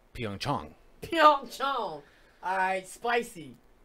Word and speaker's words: Pyeongchang: plenty of the tappable so apparently even though it's has an aide we've been pronouncing it wrong it's Yong Chun so I spicy like